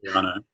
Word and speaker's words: Gagliano: Is that how you pronounce her name? Gagliano.